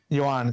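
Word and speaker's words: Yoán: Yohan. Kind of like Johan, but Yohan.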